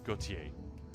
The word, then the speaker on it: Gautier: Which, by the way, is how we're supposed to pronounce Darian's surname, Gautier.